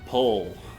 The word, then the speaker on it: Ple: Yeah, Pull. Yeah, it looks like it's pronounced play, but I believe it's pronounced pull.